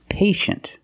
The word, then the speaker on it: patient: With patient, we see T-I-E, making the sh sound. Patient. The first syllable is a long A, like day and pay, pay, and shin. The second syllable is a closed sound. Sh, sh, shin. Patient.